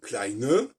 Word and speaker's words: klein: exemple, effectivement, l'adjectif klein, kleine, qui est parallèle à petit, petite, sauf que les Allemands prononcent ont deux déficiences. Un, ils prononcent la consonne finale, et deux, ils n'en